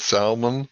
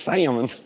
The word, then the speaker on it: salmon: the silent writer sometimes i said salman the other day on live stream people were calling me that was yesterday i remember that sam and it's salmon that was pretty lovely i'm hooked on pohonics i always thought it was like s-a-m-i-n salmon that's how you say it salmon well maybe he's the